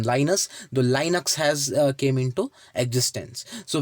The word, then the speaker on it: Linux: Okay, because of his name Linus, the Linux has came into existence. So we for the explanation I just say Linux, but you can pronounce it as like Linux also.